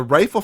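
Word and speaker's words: Reifel: the people out there it's not spelled like rifle the gun it's r-e-i-f-e-l yep is that true it is rifle that's how it's pronounced but yeah yeah that's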